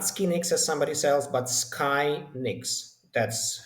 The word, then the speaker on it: Skynix: max not more so skyx it's the correct pronunciation not SK as somebody SS but Sky ni that's how we call ourselves we are basically